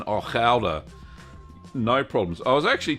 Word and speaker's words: Gouda: And he said, this is how the Dutch say it, Gouda.